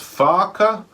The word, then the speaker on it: whāka: That's got an A on that first Toitoa on that first A, so it becomes whāka. So just be careful how you pronounce that one, because you could end up in some trouble if you pronounce that one wrong.